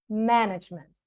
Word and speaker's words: management: The stress is on man, management, manager, manage. You manage things because it all comes from manage. Man, it derives from the man.